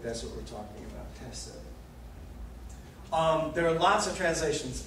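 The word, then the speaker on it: חֶסֶד: You pronounce it's a very hard H in the back of your throat, like the J in Spanish, chesed, chesed.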